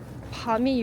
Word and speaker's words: 밤: 그정 밤이 유명한 동네 이렇게 막 길거리에 밤이 떨어져 있어요. 여러분 밤 먹는 밤은 길게 발음하셔야 합니다.